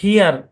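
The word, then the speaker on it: hear: আচ্ছা, তারপর দেখেন, তারপর হচ্ছে এইচ ই এ আর উচ্চারণ কি? হিয়ার।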